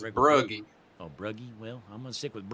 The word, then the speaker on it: Regelbrugge: the top 3, and I learned how to pronounce his name before the race, and I said it wrong all night. I said Regelbrugge all night, but it's Brugge.